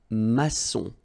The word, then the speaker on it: maçon: And it just means that you will pronounce this C as S. Okay. So that's the reason why. It's un maçon. Son. Okay. O-N in your nose, nasal.